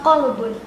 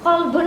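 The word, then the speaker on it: قلب: Kolbun sama kalbun. Mirip nggak? Mirip ya? Sama ya artinya, iya. Nah, Sama atau beda? Kolbun, kof lamba sama kaf lamba. Nah, beda di depannya tapi hampir sama ini pengucapannya.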